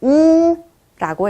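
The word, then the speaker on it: У: 영어 Y처럼 생겼는데요. 러시아어로는 뭐 E, Y 이렇게 발음이 나는 것이 아니라요. 같이 읽어볼게요. 우라고 읽어주시면 됩니다. 우 발음이 나요. 신기하죠? Y처럼 생겼는데 우 발음입니다.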